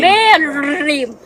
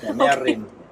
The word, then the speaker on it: Mae Rim: teach me Mae rrrrrrim Mae Rim but normally if we talk we don't pronounce that way just mae rim mae rim 多山路啊這裡開車邊這麼山區的地方